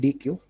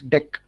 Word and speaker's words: deque: Okay, it's actually pronounced deck. Okay, so don't call it DQ.